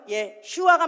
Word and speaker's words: 예슈아: 헬라어 발음이 예수고 우리가 한국말로 예수라고 그대로 표기를 해가지고 예수가 됐지만 원래 그 아람어로는 예슈아가 맞다. 예슈아.